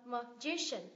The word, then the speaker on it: magician: làm gì nhở thầy phù thủy đúng không magician magician Ok kết thúc là i a thì